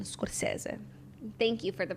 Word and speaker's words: Scorsese: And by the way, that's Italian, Scorsese.